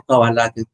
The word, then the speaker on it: cábala: explique que sí es cábala. Claro, pueden decir cábala o cabala que Nayibe comentó e que cómo se dice, no pueden decirlo a propósito del acento cábala en español con C y B alta y cabal A lo